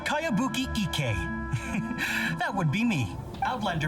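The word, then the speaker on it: Kayabuki Ikkei: By Kawabunga Iki. Cowabunga? Yoimiya, this is a really strange name. Who's this Cowabunga? It's pronounced Kayabuki Ike.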